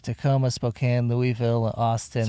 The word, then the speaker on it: Spokane: come and said hi in places like Tacoma Spokane Louisville Austin right where was it after Tacoma spoke oh you caught me pronouncing Spokane correctly and I'm sure I'm forgetting